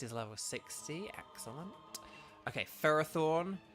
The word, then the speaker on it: Ferrothorn: level 60 excellent okay ferrothorne or Ferrothorn it should be ferrothorne but it's farrothorne um we're gonna use the